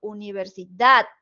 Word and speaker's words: universidad: o con más intensidad por ejemplo universidad Universidad d es la sílaba tónica es el acento prosódico y así con todas